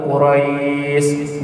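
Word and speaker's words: قريش: Li'ilafi Quraisy. Qaf, hati-hati huruf qaf. Qaf ya, bukan kaf.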